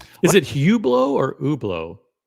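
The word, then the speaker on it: Hublot: Is it Hublau or Ublo? Like I always thought that you didn't pronounce the H. Like it's kind of like a French sounding name. So it's like it's Ublau.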